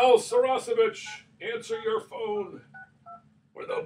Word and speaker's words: Saracevic: I keep calling you Saracevic, but it's Saracevic. That's right. Well, there's no H on this one, so Saracevic. Right. Yeah. So it's spelled. It sounds like it's spelled. Yeah.